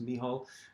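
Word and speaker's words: Mícheál: uh miho keating uh miho being uh sort of the irish pronunciation of the word michael so if you see michael it's i think it's pronounced me hall um which like roshin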